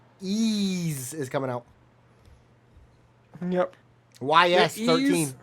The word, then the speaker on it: Ys: So we got Ease. Ease is coming out.